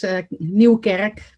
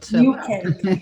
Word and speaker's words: Nieuwkerk: am I pronouncing your name correctly? Yeah, more or less. Nieuwkerk, but Nieuwkerk.